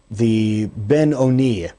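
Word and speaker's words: בינוני: It is brought down in the Tanya that there's this one known as the Ben Oni, or sometimes pronounced the Benoni, the one who is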